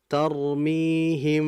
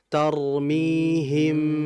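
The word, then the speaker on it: ترميهم: Ya, tadi sebagaimana saya contohkan tarmihim bukan gitu yang betul tarmihim rapat saja sudah bibirnya enggak usah ke dalam gitu ya hem enggak usah tapi hem gitu.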